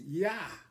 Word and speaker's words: Jah: But we know, since there was no J in the Bible, in the English alphabet, it has to be pronounced Yah.